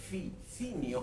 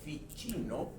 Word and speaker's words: Ficino: La Teología Platónica, estimado público, y otras obras, porque Marsilio Ficinio o Ficino, como se pronuncia en italiano, fue en sí mismo